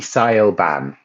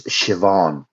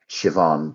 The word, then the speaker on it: Siobhan: it, it would be Siobhan. That's what the name is, Siobhan. But that's not how you say it. In Irish, it's Siobhan. Siobhan. BH in Irish is pronounced with a V, so it's Siobhan.